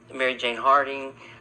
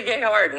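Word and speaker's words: Marcia Gay Harden: But but you've had like Mary Jane Harding. Is that it right? Marsha J. Oh, Marsha J. Harding. Marsha Gay Harden. I said her name wrong.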